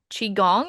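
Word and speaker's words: qigong: Um you do chi gong? Is that how you say it?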